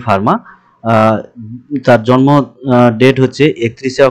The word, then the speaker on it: Fermat: এই লেকচারে আমরা ফার্মাস লিটল থিওরাম এটা পড়ব। উচ্চারণটি কিন্তু ফার্মা হবে, ফার্মার্স নয়। ইনি একজন ফ্রেঞ্চ ম্যাথমেটিশিয়ান ছিলেন।